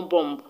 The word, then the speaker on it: bomb: is also not pronounced the b in bomb b-o-m-b the last b is not pronounced so the correct pronunciation of that word is no bomb other it is bomb the b in plum